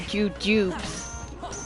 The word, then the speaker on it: jujubes: Actually, actually the candy are jujubes. The E is silent.